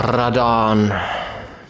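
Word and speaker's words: Radahn: Also, dann gehen wir mal an den General Radan. Mit dem rollenden R. Das ist ja nicht mein Ding. Er wird ja so ausgesprochen. Uff.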